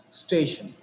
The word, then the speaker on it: station: Station. How many syllables do we think this particular word has? It has two syllables. They are station. Shan is the ultimate syllable and the syllable which is preceding it is stay. So we have given the stress on stay.